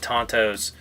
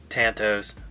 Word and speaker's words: tanto: be careful tanto blade design sweet I love tantos Tan toes whatever you want to say pushing my son